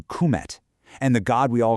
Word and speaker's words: Kemet: And because of that, we've learned that Kemet, the name for Egypt, was probably pronounced closer to Kum.